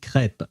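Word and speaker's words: crêpe: Uh so just so you know, we pronounce it crepe and I do believe that uh these crepe are French. So I will go with the French name for them because I don't want to call them creeps.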